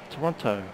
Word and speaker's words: Toronto: and uh let cry said as it is spelled Toronto with a t in the middle of it not the one in Canada which is Toronto sure the cabin's been